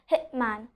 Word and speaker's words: hitman: So here you are seeing that letter T is there, but I'm not pronouncing the letter T because it's followed by a consonant.